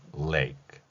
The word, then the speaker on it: lake: 따라서 입모양을 을 한 상태에서 뒤에 소리로 연결하면 lake, lake 이렇게 발음할 수 있다는 것입니다.